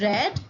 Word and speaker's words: read: and b3 form uh spells the same but it is read as here read v2 is red and v3 is also red it is a difference in the pronunciation here we have cell